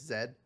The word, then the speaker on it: Zaid: It's spelled like Zaid, but it's Zed.